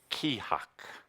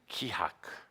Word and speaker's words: Keahak: It is pronounced Kihak. Kihak. That sound fun? You can say it. Kihak.